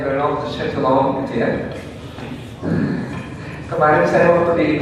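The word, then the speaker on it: Renaud de Châtillon: Terus penjahatnya namanya Reynaud de Châtillon, bacanya Reynaud de Châtillon gitu ya.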